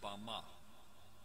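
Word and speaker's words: במה: in the Strong's Hebrew dictionary and it is pronounced Bama Bama is most commonly used to refer to a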